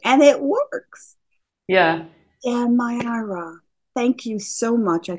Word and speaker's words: Mayara: All of Mariah's links, I say Mariah, she did show me how to say it. It's Mayara.